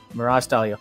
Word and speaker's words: Mirage Stallio: Yeah, that's how it's said. I can speak language, right? Mirage Stallio.